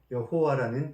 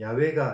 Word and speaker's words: 여호와: 그래서 율법에 이 이름이 나오면 주라는 뜻의 아도나이라고 발음했다고 합니다. 그래서 후세에 사람들이 하나님의 이름의 그 자음에 아도나이에 붙어있는 모음을 붙였습니다. 그랬더니 지금 우리가 발음하는 여호와라는 그런 발음이 된 것이죠.